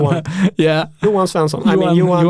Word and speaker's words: Ewan: I was like, Ewan? Ewan? And it's you won, basically. It's basically you won. Yuan.